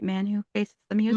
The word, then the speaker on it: Manu: Manu Faces the Music. Manu.